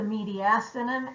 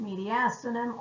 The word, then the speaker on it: mediastinum: thoracic cavity has the mediastinum and the plural cavities and I've heard it pronounced mediastinum or mediastinum but um the mediastinum